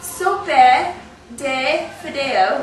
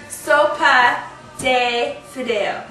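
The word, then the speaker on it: sopa de fideo: My husband always has to crack me because I say that wrong. Did I still say it wrong? Okay, tell me one more time. Soapa. Soapa de Fido.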